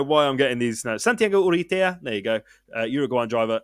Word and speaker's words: Santiago Urrutia: Santiago Urrutia. I can speak Spanish. I don't know why I'm getting. That's exactly how I would pronounce it. Yeah, I don't know why I'm getting these. No, Santiago Urrutia.